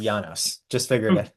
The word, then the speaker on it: Janos: So it is my name is pronounced Janos.